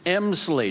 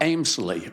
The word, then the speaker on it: Emsley: Oh, ma'am, Talia, my name is Emsley, not Amesley, or however you pronounce it.